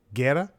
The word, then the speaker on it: Guerra: His name is Nick Guerra. I know I'm pronouncing that right because I saw a clip of him on Gabriel Iglesias' stand-up revolution from Comedy Central.